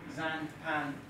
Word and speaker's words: Xanpan: is about Zan Khan which we pronounce Zan Japan um like xylophone the execute to pronounced